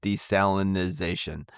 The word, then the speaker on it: desalinization: Gulf Coast uh countries, the word is desalination and not desalinization. But, apparently, both pronunciations are acceptable. So, um They're both acceptable. Okay. Uh if you want to throw a couple extra syllables in there, uh desalinization will work.